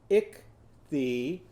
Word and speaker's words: ichthyosaurus: Go ick-thee, ick-thee. Now go down to your knees for head and shoulders, knees and toes. A-saurus, a-saurus. So now let's put that all together. Ichthyosaurus. So how many syllables in that word?